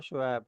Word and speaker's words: शोएब: शोएब मलिक शोएब अख्तर हम बड़ा कॉमनली उसको शोएब कर देते हैं। वो शोएब नहीं है वो शोएब है। मतलब करेक्ट प्रोनाउंसिएशन शोएब बनेगी।